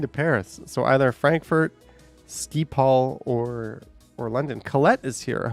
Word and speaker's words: Schiphol: Pronounced Skipal.